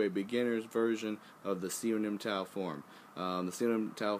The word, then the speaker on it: Siu Nim Tao: It's Siu Nim Tao, or Siu Lim Tao. There's different pronunciations. Siu Lim Tao, Siu Nim Tao. There's a bunch of different ones. I just call it Siu Nim Tao. That was the way I learned it.